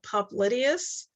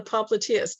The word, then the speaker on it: popliteus: with initiating knee flexion some people call it a pop the popliteus i don't call it that i call it the popliteus i don't care how